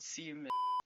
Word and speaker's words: Siemens: The sponsor of the number 0 car was a German company called Siemens. Okay, surely that can't be how it's pronounced, right? Oh, holy shit, it is.